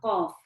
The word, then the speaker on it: Qaf: Okay, so the qaf is actually pronounced from the back of the tongue.